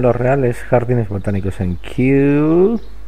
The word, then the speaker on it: Kew: El inusual robo ha tenido lugar en los reales jardines botánicos en Kew, que es como el final de la pronunciación de thank you.